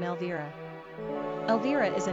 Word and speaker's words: Elvira: Pronunciation, Elvira.